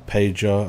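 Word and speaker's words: Pajor: be uh P or pager as everybody probably calls her the JS are pronounced wise in Polish I don't think it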